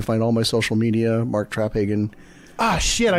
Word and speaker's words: Traphagen: oh we're not vegan it's Traphagen so the P in the ages so accent on the first syllable got it no it's